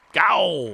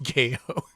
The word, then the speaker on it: Gaiou: Probably pronounced Gaio, but let's go with Gao. I'm gowing right now. It's pronounced Gayo.